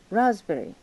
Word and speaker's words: raspberry: Raspberry. Oh. Raspberries and cream. raspberries ですね。raspberry。S がついてて raspberries。このスペルに P が入ってますけれども、これは発音しません。S も発音しませんね。SP 入ってますけど、発音しないです。